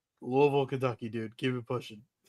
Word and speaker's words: Louisville: How is Lewisville spelled? Don't do that. Don't do that. It's Louisville. Okay, I'll say it like I'll say it like you say it. Louisville.